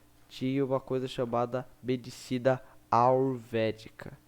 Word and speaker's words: ayurvédico: Mas muito antigamente lá da Índia, tinha uma coisa chamada medicina ayurvédica. Não sei se eu falei certo, mas é A-Y-U-R-V-E com acento D-I-C-O, ayurvédico. Meio difícil de falar. O Y é mudo.